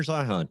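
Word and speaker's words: Zeihan: I want to really throw out there, Peter Zion or Zian. I don't know how to pronounce his last name. Peter Zihan.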